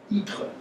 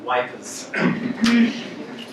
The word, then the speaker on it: Ypres: Ypres, so that's Y-P-R-E-S, which the British Army could never pronounce, and they just called it wipers.